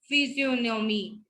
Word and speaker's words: physiognomy: ठीक है, नाश, नाट, नौ, champagne, poignant, physiognomy, sign, resign, and assign.